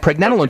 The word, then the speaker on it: pregnenolone: Preg, as in pregnancy. Preg, nen. Like Ben, except nen, pregnen, and then alone.